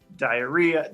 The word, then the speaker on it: Daeira: he laid with Aphrodite, Brimo, diarrhea. Diarrhea. It's spelled Daeira, so I don't know.